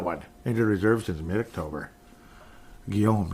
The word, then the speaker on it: Guillaume: Guillaume, just like Guillaume Latendresse. That's how I know how to pronounce it.